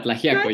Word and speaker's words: Tlaxiaco: So Sergio is the director of the Tlaxiaco. Yeah, Tlaxiaco, yeah.